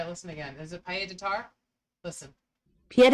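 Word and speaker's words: pied-à-terre: Pied de Tar. Pied de Tar. Pied de Tar. click it. It's Pied... Oh, please. Pied à terre, Yeah, here, try to listen again. Is it Pied de Tar?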